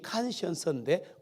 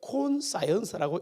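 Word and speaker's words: conscience: 그 영화에 보시면 그 성공한 엄청나게 성공해서 거의 뭐 엄청난 부자가 된 남자 주인공 소설가하고 그 다음에 그 양심이 칸시언스인데 콘사이언스라고 읽는 무식한 그 웨이트리스 여자하고의 러브 로만스입니다.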